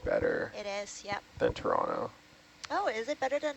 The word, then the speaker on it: Toronto: There's no T's in Toronto. Toronto? Not even the first letter. It's like a ch.